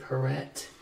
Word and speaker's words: Porete: Marguerite, okay, so she's French, so the pronunciation would be Porete, because there's an E after the T.